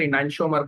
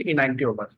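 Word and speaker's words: enantiomer: उसको बहुत सारे टीचर इनैंशियोमर पढ़ते हैं, बट इट इज एक्चुअली इनैंटियोमर।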